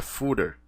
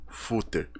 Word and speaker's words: footer: o barra fter e a pronúncia correta é fter e não footer como eu tava falando